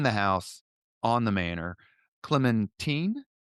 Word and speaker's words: Clementine: Clementine. Yes, Clementine. You're absolutely right. That's the pronunciation.